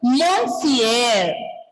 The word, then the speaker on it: monsieur: And first one is Monsieur.